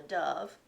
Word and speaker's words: dove: beautiful bird called a dove Dove rhymes with love nobody wrote about hamsters